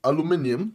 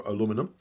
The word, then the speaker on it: aluminum: The body construction here seems to be aluminum, right? Or aluminum, depending on where in the world you're from and how you pronounce it.